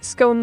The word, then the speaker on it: scone: as a proper Brit I say scone like gone not scone like Stone oh what a delightful